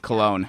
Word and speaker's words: Cullen: It's Cologne, yes, right? It is Cologne.